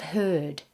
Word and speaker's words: herd: Beware of herd, a dreadful word, that looks like beard and sounds like bird.